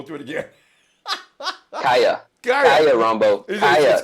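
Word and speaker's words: Kaaya: Brad Kaya used to throw the ball to him.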